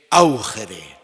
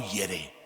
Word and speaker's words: augere: un verbo latino que es augere o aere se puede pronunciar de las dos maneras que es hacer crecer